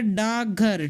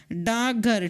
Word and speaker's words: डाकघर: हमारा प्रश्न है कि क्या डाकघर का स्वर लोप के कारण हिंदी में उच्चारण होता है? डाकघर का स्वर लोप के कारण हिंदी में उच्चारण होता है।